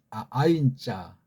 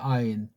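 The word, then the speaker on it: עין: 이 소리 발음을 완전하진 않지만 우리가 글자가 느껴준 걸 우리 배달결의 정음의 최고의 소리 원리를 가지고 이렇게 이런 이응자로 소리를 내시라고요.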